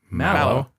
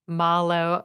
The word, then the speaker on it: Mallow: Mallow. Like a marshmallow. Mallow. Mm-hmm. Tiffany, how do you say it? Malo. I think I have said Malo. Yeah. That might be closer to the actual Japanese pronunciation, Chris, if you Motto.